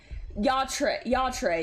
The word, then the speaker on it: Yatre: No, it's now I'm saying Yater. Oh. It's Yatre, yeah.